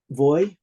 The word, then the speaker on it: vaj: us and say um voy butter is just be a b-a-j it's just one syllable margarine is four syllables